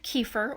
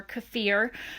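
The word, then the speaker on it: kefir: So I've started to do KEFAR or KEFAR. You'll hear it pronounced both ways, and you can do fermented milk KEFAR or water.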